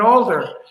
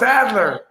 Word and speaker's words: Adler: So I said Stephen Alder. And they said, no, it's Adler.